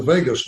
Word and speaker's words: vagus: it really stimulates the vagus nerve the spell VA GU is pronounced like Las Vegas which then to tributes